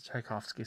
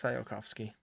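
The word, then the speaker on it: Tsiolkovsky: okay i've been mispronouncing it's not tchaikovsky center it's sayakovsky as in the rocketry person i should know better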